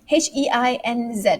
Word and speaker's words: Heinz: to repeat themselves okay um one how to pronounce heinz h-e-i-n-z is that the um is that the ketchup